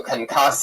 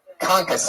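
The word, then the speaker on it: concassé: balsamic marinated steak orgona blue cheese crushed tomato kcass did I say it wrong again how do you say it concas all right I'm not going to take it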